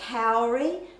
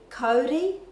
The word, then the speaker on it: kauri: our commonly used words, such as people say kauri, that really should be kauri in the correct Māori pronunciation.